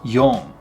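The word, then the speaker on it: 四: 4 is shi or yon. Shi, yon. This in sound in yon is the same way. It's not yon, it's yon, kind of said nasally in the back of the mouth again.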